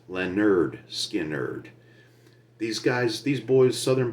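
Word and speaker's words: Lynyrd Skynyrd: I do from 1973 Leonard skard pronounced Lenard skard These Guys these boys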